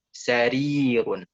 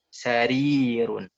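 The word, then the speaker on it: سَرِيرٌ: Sarirun. Sarirun. Nah, itu ada sarirun. Bukan sarirun, itu salah. Sarirun.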